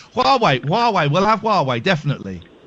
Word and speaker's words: Huawei: Did you just call them Who are we? Yeah. Well, it is hard to pronounce though. But I'm sure there's a war. I think it's Yes, I think it's Huawei. But who are we is is is just as good.